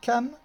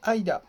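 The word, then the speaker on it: 間: Et bien celui-là, juste à côté, euh, alors, il y a toujours deux prononciations, hein, une chinoise et une japonaise. La chinoise, c'est kan, ken, et la japonaise, aida.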